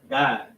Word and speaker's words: Gad: Gad translates in the Hebrew verbalization as the same thing, but pronounced God.